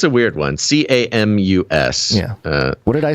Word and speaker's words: Camus: in 2011 by reynaud kamis a french writer it's camus you know whatever french no it's not getting out